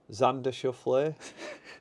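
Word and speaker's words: Xander Schauffele: I have had a couple of bets before Xander shule right why you laughing got that right no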